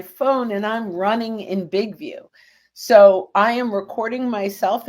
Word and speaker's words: BIGVU: And also, just really quick, BigView is spelled BIGVU. BIGVU, because I don't want people putting in VIEW.